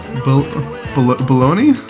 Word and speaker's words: bologna: the names Johnny or bologna you pronounce that baloney I think it's baloney